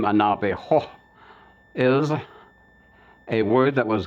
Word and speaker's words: Navajo: When they heard the word Navajo, they gave it the Spanish pronunciation, and they even applied the Spanish spelling, and it came out Navajo with a J-O at the end.